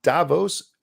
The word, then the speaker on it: Davos: I've set up you and Peter to meet in Davos.